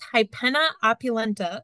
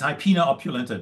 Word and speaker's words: Hypena opulenta: question do you think hyena opulenta sorry if I slaughtered that will be successful on black swallow work control uh so it's hypena opulenta that's we how we typically pronounce it krie and my answer